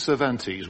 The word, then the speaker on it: Cervantes: I think it's Cervantes. We've decided to anglicize him now.